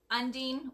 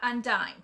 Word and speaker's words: Undine: people don't actually know how to say Undine and that is how you say it Undine or Undine is not undying it's like marine okay so it's Undine